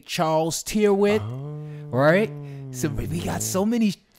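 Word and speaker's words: Charles Tyrwhitt: some people say and this is actually someone from the UK that pronounces it this way Charles the white so how do you pronounce it well I've actually been to Charles a tear it on German Street in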